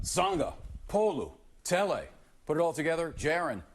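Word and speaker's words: Sagapolutele: In Hawaiian pronunciations, you pronounce every vowel. Every vowel. So just, you break it up. Sangha, Polu, Tele.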